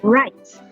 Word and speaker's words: write: let's take for example the word write which is spelled w-r-i-t-e if you pay attention to what you pronounce the w is silent let's take another